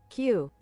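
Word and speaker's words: queue: Let me How to pronounce Q Q. That is the Q. So you say Q, the letter Q, but you have U E U E at the end.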